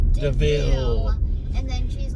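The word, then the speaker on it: De Vil: funny when he's like, this car is named Devil, and then he's like, it's pronounced Deville.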